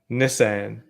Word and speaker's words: Nissan: Say Nissan again. Nissan. That's the Aussie way of pronouncing that one.